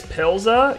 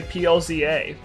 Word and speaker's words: PLZA: who pronounces plza as Pila yeah why do you pronounce it as a word just say plza why do you need